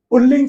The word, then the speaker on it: पुल्लिंग: पुल्लिंग शब्द देखो उच्चारण में जरूर र निकलता है। आपको लगेगा लेकिन दोनों बार ल ही रहेगा। इसके आपको वर्तनी पे भी ध्यान देना है। पुल्लिंग लिखा जाता है। ठीक है? और कई बार उच्चारण में लगता है कि सामने वाले पुल्लिंग बोल रहे हैं और बोलते हैं पुल्लिंग तो वो न का उच्चारण र जैसा ही लगता है।